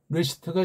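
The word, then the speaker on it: רֵאשִׁית: 근데 레시트라는 발음이 정확한 것은 아는 것이 알레풀 소리를 안 나잖아요. 여기 에라는 소리에, 여기 에라는 소리에 그냥 먹혀버린 거예요.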